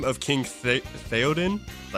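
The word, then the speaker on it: Théoden: What was the name of King Theodin?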